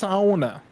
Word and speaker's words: sauna: know who knows but i believe it's actually pronounced sauna uh if i'm watching enough finnish youtubers uh to be correct there but i do